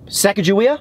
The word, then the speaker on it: Sacagawea: sacagawea dollar you know you said it right the first time sacagawea out of five saga